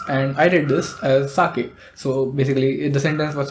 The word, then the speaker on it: sake: you can say like the K is pronounced as a c in cake so cake you pronounce k and the sake in K is also like K so put together it's sake the story is that